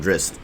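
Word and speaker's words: Drizzt: of anti-hero to drizz i wonder how they're going to say that that's pronounced because i've always called them dreads dressed drizzy drizzed they just called them dressed okay so i was doing it right dressed um and yeah there's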